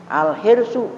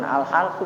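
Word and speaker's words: الحرص: Al-hirsu bukan al-halsu bacanya.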